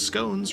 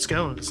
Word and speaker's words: scones: March Hare informs me in educated circles scones rhymes with bones, like scanones. What? Not scones, like we've been saying.